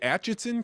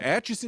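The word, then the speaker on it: Atchison: And you're in is it Achenson County? How do you pronounce it? Ason County. Yeah. All right. Aches County.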